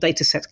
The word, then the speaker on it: Datasette: um that that's called data set Cloud it's data set. Cloud as opposed to data set which is dataset doio spelled like the word cassette so it's da a a